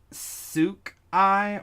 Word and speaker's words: souk: Oh, yeah, it's pronounced souk.